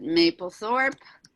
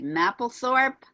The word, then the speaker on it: Mapplethorpe: Robert, I pronounce it Mapplethorpe. Some people say Mapplethorpe.